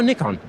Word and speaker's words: Nikon: It's actually either, confusingly. In the US, our US team definitely say Nikon, but in Europe, and in fact in Japan, where I believe the correct pronunciation must be more readily felt, it's Nikon. It's Nikon.